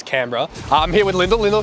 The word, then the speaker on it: Canberra: city of Australia AKA Canton Borough uh it's not pronounced that way it's Canberra I'm here with Linda